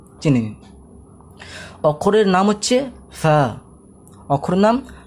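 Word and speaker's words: ف: ফা বলার মাখরাজটা হচ্ছে এমনি যে আমাদের যে নিচের ঠোঁট আছে, এই ঠোঁটটা ওপরের দাঁতে টাচ হয়ে ফা উচ্চারণ হয়। ফা ফা ফা ফা, বুঝতে পারছেন?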